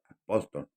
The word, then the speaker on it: apóstol: Y Pablo aquí dice Pablo apóstol, con acento en la O, apóstol, pero hace una mención